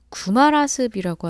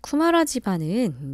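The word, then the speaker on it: 쿠마라지바: 넘어가야 하는 것이 불교인데 구마라습이라고 하는 건 중국 사람들의 발음으로 한약을 한 거예요 그래서 원래는 쿠마라 지방 이렇게 읽어 줘야 맞고 사람 이름입니다 자 쿠마라 지바은 이제 실크로드 오아시스 국가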